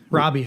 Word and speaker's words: Rabe: How do you pronounce your last name? Rabe? Rabe.